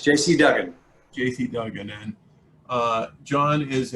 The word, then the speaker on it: Duggan: JC Duggan, is it pronounced correctly, John? It's JC Duggan.